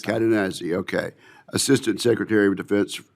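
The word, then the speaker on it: Cadenazzi: Cadennazi, Assistant Secretary of Defense for Industrial Base Policy, and sir, I hope I pronounced your name exactly correct. You did, absolutely, sir. Cadennazi, okay.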